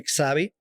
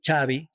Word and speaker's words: Xavi: well called but in Spain they call me chabi chab CH in the v the V is pronounced like a b yeah yeah chabby yeah